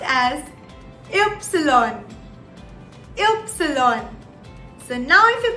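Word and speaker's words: Ypsilon: y in german now y in german is pronounced as epsilon epsilon so now if you pay very very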